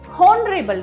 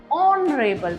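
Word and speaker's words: honourable: तो हम हॉनरेबल नहीं बोलेंगे, भले यहाँ पे एच लगा है. You have to pronounce, H will be silent. You have to से ऑनरेबल मैन, and because the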